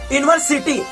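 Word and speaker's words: university: सकते हैं, जैसे कि यूनिवर्सिटी, जो कि ये यूनिवर्सिटी लिखेंगे तो यू है जो कि बनता है किससे? वॉवेल से बनता है। लेकिन इसको हम लोग बोलते कैसे हैं? यू।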